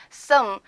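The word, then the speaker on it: съм: 드리면 im2 되는겁니다 그래서 쑹 이거 발음 주의 하셔야 되는거 아시죠 그와 어의 중간 발음 씀 이렇게 발음합니다 두번째 2인칭 단수 인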